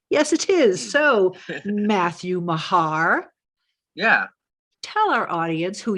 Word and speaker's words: Meagher: audience know out there your last name is spelled m-e-a-g-h-e-r so a lot of people might call you meager right uh I get